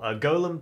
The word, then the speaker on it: Golem: How long did Gollum take? I think I don't know why I called him Gollum. Gollum. I guess that was how it's spelled. Golem took 3 hours, 30 minutes, I think.